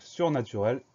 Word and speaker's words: surnaturel: Souvent, quand on a la terminaison EL à la fin d'un mot, on va prononcer le E est. Donc surnaturel, S-U-R-N-A-T-U-R-E-L.